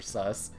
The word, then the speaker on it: Seuss: and uh the E the U and E with the SS that actually is pronounced suss in German so it's actually funny